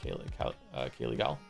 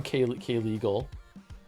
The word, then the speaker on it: Kaylegal: Thank you very much for being a part of the community, Kaylee Gal. Sorry for getting your name wrong for so long, K-Legal.